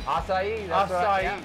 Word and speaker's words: açaí: want a fresh smoothie acai that is like probably the most mispronounced word ever every time i go somewhere can i come in makai bowls yeah i know all right say it again acai let's check this